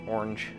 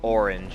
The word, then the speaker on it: orange: it is orange orange orange sorry it just it kills me when people say the word orange and one syllable that is a very American thing to do the Colin orange and